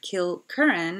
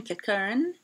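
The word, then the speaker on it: Kilkerran: why they name it kill curran and not kill karen i think is the proper pronunciation kitkaran um they chose kilcarn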